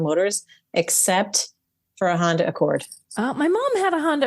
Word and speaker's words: Accord: They took us on a road trip it's spelled like Accord, New York, but you don't say it like Accord, New York. You say Accord. Accord. That sounds awkward. Okay, it's Accord.